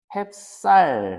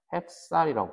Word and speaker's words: 햅쌀: 햅쌀 했을 때 쌀. 해 더하기 쌀인데 이게 비읍이 밑으로 내려가서 요새는 햅쌀이라고 불린다는 거죠. 햅쌀. 햅쌀.